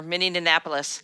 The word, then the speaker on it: Minneapolis: Oh that's true you have done that before miniapolis Oh that's true you've done that before few